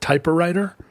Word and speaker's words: typewriter: Did you just pronounce it typewriter? I've decided I'm going to start saying typewriter 4 syllables.